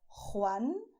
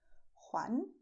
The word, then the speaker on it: Juan: You have the way of pronouncing with a deep sound with your throat, which is Juan, José, Jesús, Jorge. But you don't have to make this sound if you don't like to. You can pronounce as Juan, José, Jesús, Jorge. Alright?